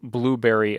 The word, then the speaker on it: Blubrry: a different hosting service, give Blueberry a try. Now, that's spelled Blubrry. It's the service that I've been using since I started podcasting 7 years ago.